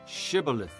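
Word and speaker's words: Shibboleth: If he replied, "No," they said, "All right, say shibilith." If he said cibilith, because he could not pronounce the word correctly, they seized him and killed him at the fords of the Jordan.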